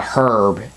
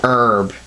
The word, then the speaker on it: herb: Just for those new viewers, and newcomers to Resident Evil, it's not called a herb. It's an herb. H is silent, just to let you know that.